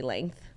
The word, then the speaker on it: length: You know, people have a lot of problems with how you and I say length. Length? Yeah, like apparently you're not supposed to pronounce the G.